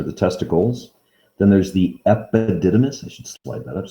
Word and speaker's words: epididymis: the testes are the testicles then there's the epididymis i should slide that up so i don't have to get rid of this e p i d i d y y m i s that's pronounced epididymis then the vas deferens i made it through